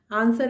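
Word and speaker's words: answer: आंसर में W silent है।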